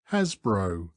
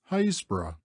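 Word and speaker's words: Happisburgh: by the postal authorities hapsburg by the villagers Hasbro and by the Trinity board hbro it is pronounced locally hazb leaving haor we walk along the beach Southward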